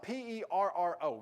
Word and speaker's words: perro: you spell it p-e-r-r-o you're supposed to be able to roll your r's but i can't roll my r so forgive me here but it's supposed to be perro where you wrote your r in spanish and pedro and dog